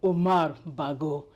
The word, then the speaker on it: Umar Bago: And so, ladies and gentlemen, please meet my guest, the governor of Niger State, Honorable Mohammed Umar Bago.